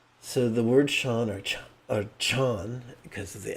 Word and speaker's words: Chan: Chan practice is about investigating our intrinsic awakened nature. So, Chan, sometimes pronounced John, is simply a transliteration of the Pali word jhana, or the Sanskrit word jnana.